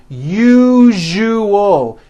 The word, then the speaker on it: usual: syllables you you oh that second syllable jus the one with the underline needs to be voiced put your hand on your throat and feel for the vibration in the second syllable you jus Oh now